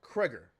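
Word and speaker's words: Cregger: go let's go and look up who Zack Gregor is if you if you ever seen the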